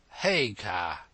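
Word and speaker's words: Haigha: when he's happy his name's his name is hagar he pronounced it so as to rhyme with maya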